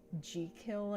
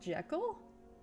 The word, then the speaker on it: Jekyll: Apparently the author of Jekyll and Hyde said it's pronounced Jekyll and not Jekyll?